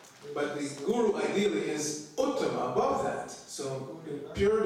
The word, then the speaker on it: uttama: The word used for the pure devotee is uttama. Two syllables. Ut, tama.